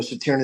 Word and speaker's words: Tierney: Tierney IV.